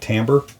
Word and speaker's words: timbre: that gets used wrong is timbre or timber i i pronounce it timbre and that's the recognizable